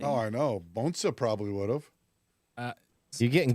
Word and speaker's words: Bonssa: Bonssa. Bonssa. Yes. Bonssa. That's how you say it? That's actually how you Yeah, pronounce can it.